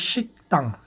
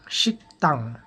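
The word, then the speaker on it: 식당: আমরা উচ্চারণ করবো ইয়াক ইয়াক উচ্চারণ করতে হবে শিকতাং শিকতাং হাকসেং উচ্চারণ হবে হাকসেং হাকসেং হাকসেং ওকে ধন্যবাদ সবাইকে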